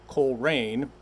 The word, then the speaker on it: Coleraine: And for those of you who live in Western Mass, it's not Coleraine. It's spelled Colereaine.